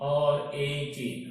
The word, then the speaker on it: wreck: WRECK, but it is pronounced as, but it is read as, लेकिन इसका तलफ़ुज़ क्या है? प्यारे बच्चों, इससे कैसे पढ़ा जाता है? WRECK, RAK, right.